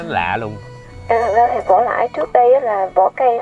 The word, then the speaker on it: vỏ lãi: Cái xuồng mình đi gọi là cái vỏ lãi. Vỏ lãi. Dạ, vỏ lãi. Vỏ lãi mà tiếng miền Nam là đọc là vờ thành giờ là vỏ lãi.